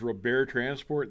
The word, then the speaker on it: Robert Transport: We used to call them, it's Robert Transport, that's the French pronunciation.